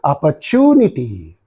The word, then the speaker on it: opportunity: review see so here the stress is real so this is very important you have to say opportunity when stress is given either you should stress it or drag it opportunity that's the right